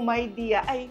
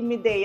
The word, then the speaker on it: Midea: rin hindi ko alam yung pronunciation pala nitong myide ay myidea at hindi mide na alam nating lahat ' ba? Kasi ang ibig palang sabihin non ay may idea.